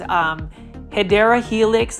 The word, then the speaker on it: Hedera helix: We've got a Hedera helix, or the correct way to say it is Hedera helix, the English ivy.